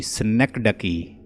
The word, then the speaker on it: synecdoche: SYNECDOCHE, स्नेकडकी। स्नेकडकी इसकी pronunciation है, ये भी फिगर ऑफ स्पीच है।